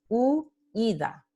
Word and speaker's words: huida: Entonces, la palabra huida, de hecho, se forma con dos sílabas diferentes, huida, ¿no?